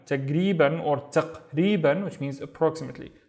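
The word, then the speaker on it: تقريباً: Tag or taq, both would work. Taq or tag, and then ri. So this is a long vowel. I just forgot to make it in orange. Ri ban. Taqriban. Taqriban or taqriban, which means approximately.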